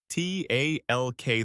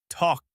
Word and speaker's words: talk: T A L K. The L is silent. You say talk.